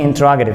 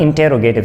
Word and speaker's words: interrogative: इसकी actual pronunciation की जाती है इंटरोगेटिव sentence, not इंटेरोगेटिव sentence. Actual pronunciation है इंटरोगेटिव sentence, इंटरोगेटिव। The word is इंटरोगेटिव।